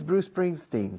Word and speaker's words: Bruce Springsteen: No digo Bruce Spring, Bruce Spring, Bruce Spring. Digo Bruce Spring, Bruce Spring. La C de Bruce se enlaza con la S de Spring. Bruce Springsteen. Is Bruce Springsteen still popular in the United States?